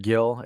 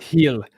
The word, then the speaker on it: Gil: watch out for are Mr Gill and uh suso it's it's heal Spanish people not pronouncing letters uh but no